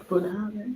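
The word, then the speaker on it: Bunnahabhain: Bunahaven.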